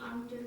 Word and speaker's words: until: I always stay on duty until 6 o'clock. That's right. Until. Stress, Until. common error, not until, until. And again, syllable before the stress syllable, schwa, not a, not until, until, until.